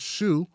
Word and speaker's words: Xu: Now I realize that you pronounce Shu, the XU as Shu. It's like a SH sound, not a W.